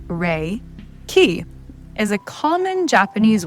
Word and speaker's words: Reiki: So firstderee raiki training raiki pronounced re key ki is a common Japanese word which Dr.